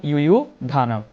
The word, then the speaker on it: যুযুধান: এরপর আছে যুযুধানু, আমরা বলবো ইউ ধানম।